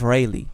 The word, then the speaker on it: Rayleigh: Shout out to the guy that tell me that it's not Riley, it's Rayleigh, right?